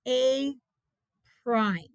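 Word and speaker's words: A′: That's pronounced A prime.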